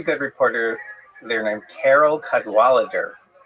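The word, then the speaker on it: Cadwalladr: So, there's a very good reporter there named Carol Cadweller. The last syllable is kind of interesting. It's because it's there's no vowel. It ends with DR. Carol Cadweller and she had written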